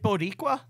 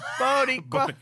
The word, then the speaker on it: Boricua: Wait, is it Boricua? Is she Puerto Rican? No, she's not And you're not Puerto Rican. saying it. You're saying it wrong. Boricua, Bodega, Dominicano, Colombiano.